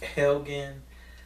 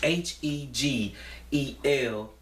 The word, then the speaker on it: Hegelian: But I want to say the Helgen. I always pronounce this word wrong. It's Hegelian.